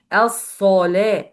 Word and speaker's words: الصلاة: الصلاة. لا, take care. This lam, it's a light letter, so don't pronounce this lam with a heavy sound according to this صاد.